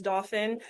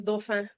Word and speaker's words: Dauphin: Last name pronunciation, English pronunciation is Dauphin, but I like it the French pronunciation because I'm from the Caribbean and it is Dauphin. Dauphin, Dauphin.